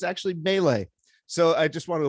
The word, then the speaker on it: melee: So melee is, the French say, is how you pronounce melee.